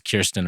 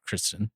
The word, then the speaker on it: Kirsten: I knew it was Kirsten and not Kristen.